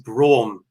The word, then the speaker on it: Braum: Now, I did ask him how to say his surname, and it is Braum, Rob Braum, director and co-founder of Brady Communications.